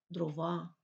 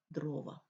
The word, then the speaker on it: дрова: правильно буде брати участь неправильно наголошувати дрова українською мовою буде дрова 11:14 см кілометри все